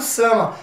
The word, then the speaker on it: some: vocês se habituarem tá toda palavra que finalizar com a letra e normalmente no inglês não se pronuncia e nós costumamos no